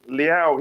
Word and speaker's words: Leão: Leao. He's okay. Sound like I'm pronouncing saying meow from a cat.